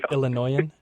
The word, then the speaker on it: Illinoisan: Make sure your S is silent. Make sure the S is silent. Illinoisan?